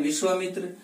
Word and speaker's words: विश्वामित्र: विश्व का उच्चारण विश्वा के रूप में करते हैं, विश्वामित्र।